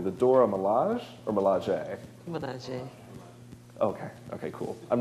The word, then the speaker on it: Milaje: Milaje. Okay, cool. I'm not going to say it again because I'm going to mispronounce it.